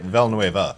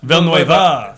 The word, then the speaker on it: Villeneuve: Villanueva. Villeneuve.